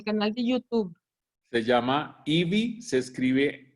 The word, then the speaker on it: Evi: Se llama Ivy, se escribe E-V-I latina.